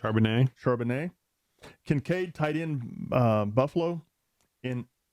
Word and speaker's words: Charbonnet: Okay, my number 6, Addison, Charbonnet, which I didn't pronounce that correct. Charbonnet.